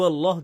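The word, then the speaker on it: الله: তাছাড়া লাম এবং আলিফ এর উচ্চারণ একত্রে কখনো ভারী হয় না। আলিফ এর পর লাম আসলে তার উপর তাশদিদ দেয়া হলে উচ্চারণ হবে আল্লাহ হালকা উচ্চারণে। কিন্তু আল্লাহ যখন বলি এর উচ্চারণ কেমন হয়? আল্লাহ। আমরা ভারী উচ্চারণ করি। এই শব্দটির জন্য আরবি ভাষার নিয়ম ভেঙে ফেলি।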